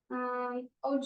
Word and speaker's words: would: You know, when you like have a piece of wood, different same pronunciation.